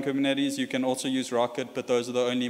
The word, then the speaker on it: rkt: Docker's a bit easier to get into, but Rocket has a bunch of security benefits. It's made by Koros and it's spelled RKT.